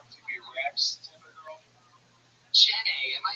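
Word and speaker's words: Jennay: Jenny, am I saying that correctly?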